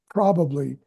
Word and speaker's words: probably: emphasis on the probably, probably, and opportunity. In most cases, the emphasis is not on the p syllable, p. So it's a very soft p, probably, opportunity, p there.